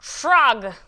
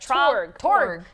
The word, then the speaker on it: Torg: Trog, right? That's how you pronounce it? Torg. Torg. Torg.